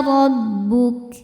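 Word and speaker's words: رَبُّكَ: Au ya'tiya rabbuk. Ro dibaca tafkhim karena berbaris fathah, maka ro-nya tebal. Rabbuk.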